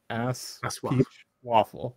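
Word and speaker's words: ASOIAF: so this is the objectively correct way to pronounce uh a song of ice and fire the acronym a s a-s-o-i-a-f ass waffle there you go uh i have a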